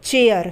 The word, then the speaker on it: chair: फिर है CHAIR, अब यहाँ पर भी सी के आगे एच है तो सी का उच्चारण च, चेयर, CHAIR, चेयर, ठीक है।